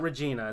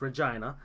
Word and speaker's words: Regina: the Canadian Football League so it'll be in Regina Saskatchewan so he he actually is pronouncing that correctly yeah it's not Regina its Regina and that's an interesting thing and a lot